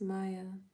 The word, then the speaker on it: Mia: me by right name my real name is Maya but it spelled like me I apologize Maya I